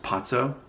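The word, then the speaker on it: Poffo: His last name was actually pronounced Pozzo.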